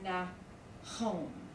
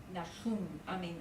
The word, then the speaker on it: Nahum: Well, the first syllable would be the noon and the patak.